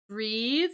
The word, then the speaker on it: breath: to breathe right and notice the difference between the spelling and the pronunciation of those words we have breath with that uh unvoiced th sound right that's for the noun right versus to breathe the verb there with an the voiced sound so to take a